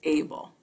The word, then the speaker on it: Abele: we're going to be talking about julian francis abel and i'll tell you later why i know that's the correct pronunciation of his name this individual is the